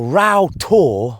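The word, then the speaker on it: Rough Tor: Now Ra to which means rough to which is also how it's spelled has a bit of folklore attached to it.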